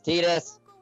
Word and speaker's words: Tidus: It's Tidus. Yeah. Just pronounce your own characters.